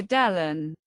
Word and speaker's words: Delon: The surname in French is pronounced closer to Delon.